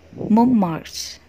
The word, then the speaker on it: Mont Marte: Kali ini aku akan melafalkan bagaimana pelafalan yang benar ya. Montmartre.